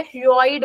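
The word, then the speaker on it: hyoid: नो हायॉइड bone, okay, इसका pronunciation बहुत अलग अलग टाइप से होता है, हायॉइड बोलते हैं कुछ, हॉइड बोलते हैं कुछ लोग, आपको जो बोलना है तुम बोलो, सारा एक ही है।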